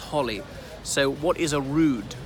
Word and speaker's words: Holyrood: anyway so it's called Holyrood it's spelt with a single L holy but pronounced Holly so what is a